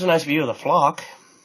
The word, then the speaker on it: Phlox: So there's a nice view of the flock. It's spelled like Phlox. It's kind of spelled kind of funny, but that purple stuff right there, or pink, they're pretty cool.